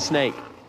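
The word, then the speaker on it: Sneek: I think it's called Snake. I think you pronounce it Snake.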